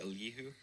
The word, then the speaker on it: Elihu: The last thing, how do you pronounce it? Elihu.